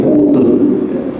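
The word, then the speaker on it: قوت: Karena kalau taknya tak yang tertutup, cara bacanya jadi quwwatun. Tapi kalau taknya terbuka, cara bacanya jadi qutun.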